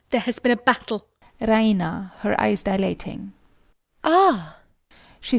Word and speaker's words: Raina: of good news Reina she pronounces it the Reina with the stress on the e Reina she goes to